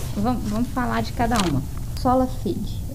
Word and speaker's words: sola fide: Sola fide. É essa a pronúncia, professor? Faz a pronúncia. É isso aí mesmo. Isso mesmo. Sola fide.